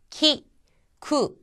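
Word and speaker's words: きく: 이거를 예를 들자면은 키라고 하는 것은 키쿠라는 단어의 첫음이 왔으니까 키와 가깝게. 그 다음에 쿠 같은 경우에는 첫음이 아니잖아요. 그러니까 꾸처럼 해서 키쿠라고 발음을 한다는 겁니다.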